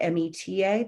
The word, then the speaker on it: Meta: It's Meta, M-E-T-A, but it's phonetically Meta.